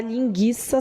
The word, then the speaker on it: linguiça: do acento agudo tá mas a pronúncia continua a mesma pelo amor da vaca preta você não vai falar linguiça só porque perdeu o